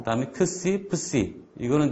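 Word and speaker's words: ψι: 또 이제 푸와 스 발음이 합쳐져 있는 거고요.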